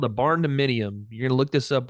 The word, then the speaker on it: barndominium: called a barn dominium. You're gonna look this up when we're done talking, Fred. It's amazing. Barn dominium.